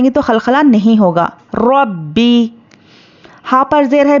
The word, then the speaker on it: رب: زیر بی، رب بی۔ اور با کیا ہے؟ حروف خلخلہ ہے، جب اس کو ہم ہجے کریں گے تو اس پر خلخلہ ہوگا لیکن روانی میں خلخلہ نہیں ہوگا، اس طرح سے۔ را با زبر رب، تو یہ خلخلہ ہے، رب۔ با زیر بی، اب